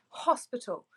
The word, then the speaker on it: hospital: Let's take the word hospital. Again, it starts with H-O, but we pronounce the consonant, we pronounce the H. So it's hospital.